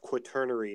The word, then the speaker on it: quaternary: I'm not a geologist knows it's pronounced quaternary not quarterly okay turn already Journal